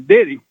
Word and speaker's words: Diddy: you're pronouncing it wrong. It's actually Diddy. It's Diddy. I don't know if you want to call anyone that. I don't know. It's Diddy. Like, that's the pronunciation.